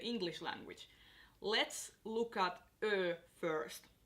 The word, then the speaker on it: Ö: Let's look at Ö first. So you want to pronounce it like you would pronounce I in girl or E in earl. So girl, earl, it's the same sound.